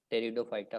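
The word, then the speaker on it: Pteridophyta: क्या इसमें ये पी जो इसने डार्क दे रखा है ना, इसको साइलेंट कर दो। बाकी जो बच गया उसको क्या बोलेंगे? टेरिडो फाइटा।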